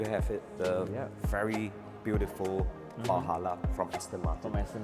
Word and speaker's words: Valhalla: with us, and this model is called a Aston Martin Valhalla. Is that the correct way to say it? That's correct, yeah.